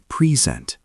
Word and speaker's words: present: Present. To show. Pronounced present. Stress on second.